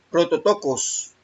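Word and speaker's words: πρωτότοκος: Se pronuncia prototokos, y significa literalmente primogénito, por lo general como sustantivo, primogénito o primero.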